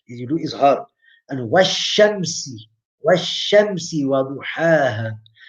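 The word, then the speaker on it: والشمس: And Washamsi Waduhaha. The yam is there, but it's not pronounced. It's written, but not pronounced.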